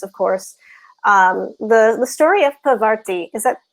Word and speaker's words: Parvati: The story of Parvati, is that how you pronounce her, the goddess? Parvati, yeah.